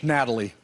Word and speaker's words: Natalia: Is that how you pronounce it, Natalia? She likes the English, Natalie.